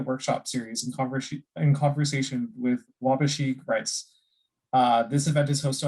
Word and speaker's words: Waubgeshig: Can you help me with the pronunciation on that one? Yeah, Waubgeshig, and it's Waubgeshig and Waubgeshig.